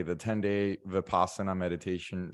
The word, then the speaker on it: Vipassana: I didn't do a 10-day vinyasa. Is that how you say it? Vinyasa, Vipassana.